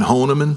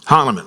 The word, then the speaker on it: Hahnemann: is it pronounced again Honeman? It's Hahnemann.